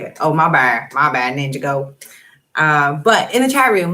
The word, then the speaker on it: Ninjago: Ninjago is how you say it. Oh, my bad, Ninjago.